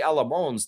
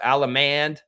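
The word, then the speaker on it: Allemand: The D at the end is silent. It's French.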